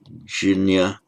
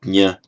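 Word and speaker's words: ज्ञ: For example, like the jinya, or nya as it's pronounced.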